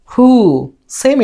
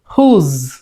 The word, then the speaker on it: whose: করে বলতে হবে হু, হু। সেম এটাও আমরা বলি হুস, শেষে স উচ্চারণ করি, এটা শেষে উচ্চারণ হবে জা সাউন্ড এবং একটু টেনে বলতে হবে, যেমন হুজ, হুজ, হুস, হুজ।